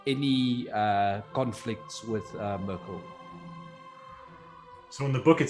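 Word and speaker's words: Myrkul: yeah actually there's because i was actually looking up the pronunciation of it and it is it's merkel yeah all right so that's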